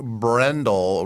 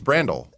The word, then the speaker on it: Brandel: In all seriousness, it sounds like we've been saying Blake Brendel wrong the whole time, too. What? It's not. What? Is it Brendel? No, it's Brendel? It's Brandel. Brandel. Like Randall.